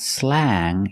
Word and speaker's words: slang: We see A-N-G, so we use the long A sound. It's not slang, it's slang. A. Slang.